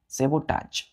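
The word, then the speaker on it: sabotage: के बाद ए जीी यहां पर टी के बाद ए जड एच प्रोनंसिएशन में लेकिन लिखेंगे टी ए जीी क्लियर है सबोटाज चलिए दूसरा वर्ड है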